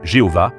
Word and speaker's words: Jéhovah: Ainsi, plusieurs hypothèses de prononciation existent aujourd'hui. Yahvé et Jéhovah sont les plus connus. La recherche académique pend généralement vers Yahvé.